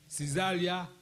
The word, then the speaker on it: Caesarea: Na interesting story we say mayanka Caesarea Philippi ho asam kakra Caesarea pocho enwanu pronunciation no Caesarea, that's it.